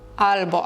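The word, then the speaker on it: albo: Або зверніть увагу, що букву Л все всередині ми вимов вимовляємо м'яко. Л. Альбо. Албо, але не повністю м'яко.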